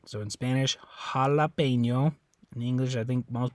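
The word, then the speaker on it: jalapeño: but in English Hala so it's like a ah instead of ah ah uh jalapeno right so anyway that's why it sounds a little different so Jalapeno in Spanish Jalapeno in English okay all right uh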